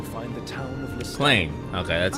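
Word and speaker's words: Cleigne: Claim. Okay, that's how it's pronounced again.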